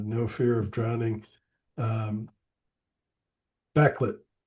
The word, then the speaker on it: Bakelit: way you like but in Swedish it Bakalit bakalit.